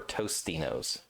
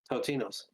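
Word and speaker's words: Totino's: Which is the correct pronunciation? Totinos or Tostinos? Totino or Tostino? Tinos? No S or S, basically. Yeah. Totinos.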